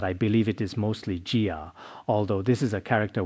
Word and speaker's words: 伽: The ga in Suga is sometimes pronounced gia or k. But I believe it is mostly gia.